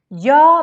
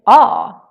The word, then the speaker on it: ja: So instead just say ah.